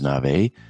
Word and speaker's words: Navé: Navé is spelled N-A-V-E.